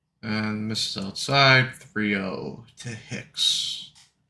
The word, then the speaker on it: Hicks: And misses outside, 3-0 to Hicks. Hicks rhymes with dicks.